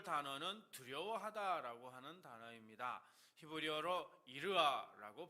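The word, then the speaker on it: יִרְאָה: 히브리어로 이르아라고 발음하는데 단순히 무서워서 떠는 그런 공포가 아니고요.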